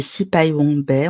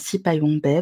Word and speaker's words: Syphaïwong Bay: Donc j'ai déjà été présentée, je suis Sipai Wongbai, on ne prononce pas le H, très important. Donc Sipai Wongbai, vous pouvez me trouver sur, les internets également avec le pseudo.